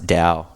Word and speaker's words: Tao: people like what I'm like yeah the t is silent I think yeah is it our no it's Dao yeah people call it Dow the Dow de